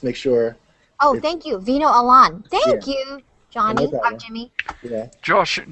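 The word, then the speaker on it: Vino Alan: I think it's and I think it's pronounced Veno Alan so just in case when he comes out just make sure oh thank you Veno Alan thank you Johnny Jimmy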